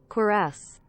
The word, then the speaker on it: Cuirass: How do you pronounce this word, chat? Cuirass.